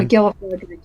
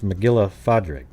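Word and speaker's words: Mac Giolla Phádraig: So is that how you pronounce it? Like a PH, like an F sound, like phone? Yeah, McGillifardrick it is. So so it's McGillifardrick.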